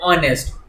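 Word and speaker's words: honest: यहां पर वर्ड्स ऐसे हैं जहां पर एच कॉन्सोनेंट से शुरू होता है परंतु उनका उच्चारण बाउल से, बाउल स्वरों से आरंभ होता है। जैसे ऑनेस्ट, ऑनरेबल, आवर, एयर, इसलिए इन शब्दों के साथ एन का प्रयोग होता है।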